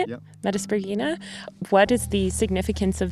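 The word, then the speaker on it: Metaspriggina: Metasprogina.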